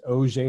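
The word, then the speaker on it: Auger: also have a J this is pronounced oj elect rays these are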